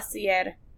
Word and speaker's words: Facilier: Facilier. Facilier? Yeah, it's French.